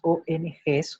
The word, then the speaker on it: ONG: ong así se escribe pero cuando se lee en la pronunciación se debe decir ongs aunque no exista ese al final lo mismo sucede por